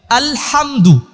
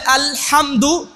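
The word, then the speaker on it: الحمد: ভুল করে সেটা হচ্ছে আলহামদু এই হা উচ্চারণে অনেকেই ভুল তাই না এই ভুলটা কিন্তু অনেকেই স্বাভাবিকভাবে উচ্চারণ করে আলহামদুলিল্লাহি রাব্বিল আলামিন কিন্তু না আলহামদুলিল্লাহি রাব্বিল আলামিন আলহামদু আলহামদু এর উচ্চারণে কিন্তু অনেকে ভুল করে এইগুলো আমাদেরকে শিখতে হবে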